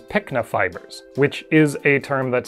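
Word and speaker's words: pycnofibers: believe throughout the video I pronounced it pinko fibers even though what I was trying to say was pikna fibers which is a term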